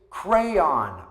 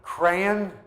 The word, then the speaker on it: crayon: It's crayon by the Crayola company. Crayon or crayon, like cranberries without the berries, or crayon, which is considered correct by the company, but people say it all kinds of different ways.